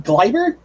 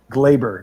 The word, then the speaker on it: Gleyber: Gleyber? Gleyber, excuse me.